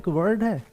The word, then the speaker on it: adjective: दी का sound silent वैसे ही parts of speech में एडजेक्टिव एडजेक्टिव पढ़ते हैं एडजेक्टिव नहीं है यह एडजेक्टिव है एडजेक्टिव क्योंकि यहां पे भी दी का जो साउंड है क्योंकि यहां पर भी साउंड है वो साइलेंट है एडजेक्टिव पढ़ते हैं इसको